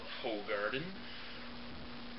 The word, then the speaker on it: Hoegaarden: review today we are doing who guarded or some of my friends called whole garden poo garden is supposedly the correct way to say it but really all except